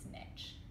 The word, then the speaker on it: niche: one of your soapbox speech things but it's nitch what the pronunciation niche niche niche niche Nick oh my